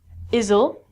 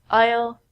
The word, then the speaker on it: isle: also sound like this the s in these words are so we don't say izle and I so we say Isle Isle Isle this Isle is